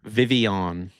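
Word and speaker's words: Vivien: Vivian.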